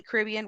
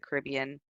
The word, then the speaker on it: Caribbean: be talking about the Caribbean I know I'm American and so I pronounce it all crazy and different uh it's not it's not Caribbean over here it's the Caribbean but I it's engrained